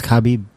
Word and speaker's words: Khabib: Is it Kabib or Kabib? Kabib. Khabib. I don't know. You're just making that up. I I've been saying Kabib. Kabib. Is it Kabib? It's Khabib.